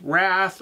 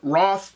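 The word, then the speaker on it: Wrarth: have to admit that looking at the spelling I thought that it was pronounced wrath or Ware but on the TV show they pronounce it Roth so that's what I'm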